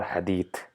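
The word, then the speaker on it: حديث: It's neither hadith, it's nor hadith, it's hadith, mixture of both, where the tip of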